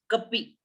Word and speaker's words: cp: देखो इसका pronunciation कॉपी, कॉपी। Okay, देखो प्रोनाउंसिएशन में क्लियर हो रहा है।